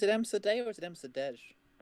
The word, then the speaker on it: Msurdej: Is it Msurdej or is it Msurdej? It's Polish, so It it's is silent Msurdej.